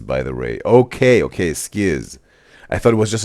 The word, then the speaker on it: SKZ: and penises in YouTube chat that skz is pronounced as ski by the way. Okay. Okay. Skiis. I thought it was just an abbrevation for stray kids. All right. Skiis.